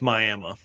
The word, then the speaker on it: Miami: And it's Miami, Oklahoma.